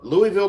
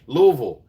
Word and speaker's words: Louisville: It is totally Louisville, Kentucky. Hey, you're not too far from me. Louisville.